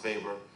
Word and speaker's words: Weber: so max weber right spelled weber sorry bill webber pronounced faber german sociologist says that power